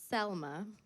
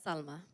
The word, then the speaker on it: Salma: Not Selma, not Salma, but Salma. Took me 26 years to introduce myself with the correct pronunciation.